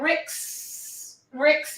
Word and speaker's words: Rijks: Okay, how do you say that, Marcia? Rijks. Okay. There you go. I did not want to mess that up. But Tracy, how would you say it in the US? Marcia, how dare you? I would call it the Rix Museum.